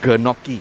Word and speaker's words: gnocchi: to people who cannot pronounce GN, it's gnocchi.